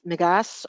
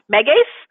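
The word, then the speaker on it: Megace: do you recommend an appetite stimulant such as m'g us or something else okay um not to correct you but that would be pronounced Megas okay appetite stimulants as a just to make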